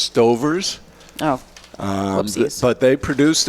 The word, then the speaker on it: Stauffer's: Stauffer's? Yeah, and Really? I'm surprised. I think it's pronounced Stover's.